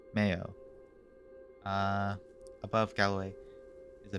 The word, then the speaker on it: Mayo: 32 irish counties uh pronunciation mayo much like the condiment uh from the irish uh may eo mayo uh above galloway is